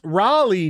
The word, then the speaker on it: Raleigh: Mountain Mutt for 5 says it's pronounced Raleigh, dude, as in Sir Walter Raleigh.